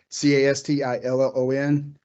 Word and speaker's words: Castillon: Is it Cas- Castillon? Yes, sir. Just like it looks. Uh I always tell people C-A-S-T-I-L-L-O-N. Just Castillon.